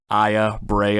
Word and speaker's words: Aya Brea: am one hundred percent positive that's how you pronounce her name Aya Brea I've heard a couple other pronunciations but we're